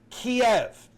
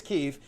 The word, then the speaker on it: Kiev: we have all decided as a society are pronounced a certain way. For example, it's Vladimir Putin. Okay. It's Kiev. And yet I am seeing I'm already going to argue with you to say it's Keef and I'm hearing like Mark Levin is pronouncing